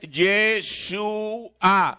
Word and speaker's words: Yeshua: Pero ahora, la palabra, de modo que entiendan, cuando ustedes la guardan, Yeshua, realmente la palabra correcta es Yeshua. Así es como lo pronuncia el profeta.